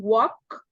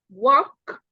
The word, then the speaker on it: walk: we said we can walk please repeat after me walk walk walk walk walk walk you don't pronounce the L the L is a silent letter don't pronounce do not